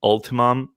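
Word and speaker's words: Ultium: a supply deal where gm would supply the ultimum is how you pronounce it all of them on the gm's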